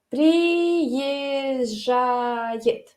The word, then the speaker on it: приезжает: Y luego tenemos la J. Entonces, juntos, Z, J, Z, J. Claro, si quieres pronunciarlo bien, puedes decir cómo se escribe. Приезжает.